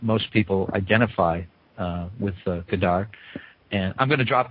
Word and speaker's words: Godard: people identify uh with gdar and I'm going to drop the second D now now that I've heard you pronounce it I'm going to drop the second d as much as I can um um it is